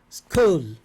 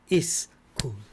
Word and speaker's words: school: don't make three students school school not is school school yes careful careful because because